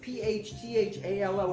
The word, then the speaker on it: phthalo: up to the bottle it's p-h-t-h-a-l-o how was that phthalo blue like get rid of the ph and the whole thing